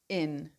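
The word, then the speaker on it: yn: So in is in pronounced the same as English.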